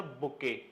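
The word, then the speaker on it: bouquet: Getting of नॉट लेकिन जब मैंने बोला कलेक्शन ऑफ़ फ्लावर्स तो आपके दिमाग में आता है सर बुके। स्पेलिंग ध्यान से पढ़ लें।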